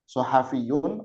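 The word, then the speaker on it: صحفيون: Ee cara pengucapan shad ya itu bibirnya miring ke depan. Eh depan bibir bibirnya ditarik ke kanan. Ustaz Ustazah ya. Sad shad ya. Sahafiyun ya. Sahafiyun bibirnya ditarik ke kanan shad.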